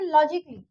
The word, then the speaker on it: logically: अब यहाँ पे LOGICALLY, इसको हम लॉजिकली नहीं बोलेंगे। ओके, लॉजिकली नहीं बोलेंगे, यहाँ हम बोलेंगे लॉजिकली। ओके, तो यहाँ पे ए साइलेंट हो गया।